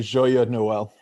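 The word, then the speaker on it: Joyeux Noël: We're going to be co-hosting tonight, going through the Joyeux Noel. And Greg, I'm sure I butchered that in French. How do you pronounce it? Joyeux Noel.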